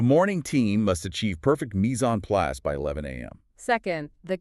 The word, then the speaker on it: mise en place: My definition, mise en place, pronounced mise en place, literally translates to everything in its place.